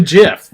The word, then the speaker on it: GIF: Anyway, It's not because it's absolutely it's a GIF. It's a GIF. It's a GIF. It's not GIF. It's not a hard G.